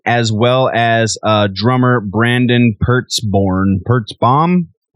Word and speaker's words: Pertzborn: Also, this will be the first new record for guitarist Paul Wiley, as well as drummer Brandon Pertzborn. Pertzborn. I said it right the first time.